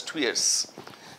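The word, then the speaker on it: tuyere: these are two years they are written as tires or something like that but they're pronounced as two years just when you throw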